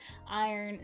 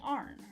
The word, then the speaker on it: iron: Iron. So that, one of the reasons that iron is in here is because people do say arn around here. Iron, arn.